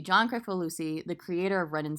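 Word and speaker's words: Kricfalusi: John how do you say his last name Crick for Lucy Crick for Lucy John correctful Lucy the creator of red and Stimpy um and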